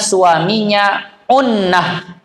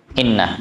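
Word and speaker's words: عُنّة: Dan sabit khiyar bagi istri jika didapatkan suaminya unnah. Situ tulisannya apa? Innah. Bacanya unnah sebenarnya. Jika suaminya unnah, apa itu unnah?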